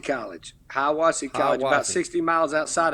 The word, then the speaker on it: Hiwassee: Now, you started your coaching career at if I pronounce this right, Hiwasawi College in Tennessee? It's Hiwassee College. Hiwassee College, about 60 miles outside of Knoxville.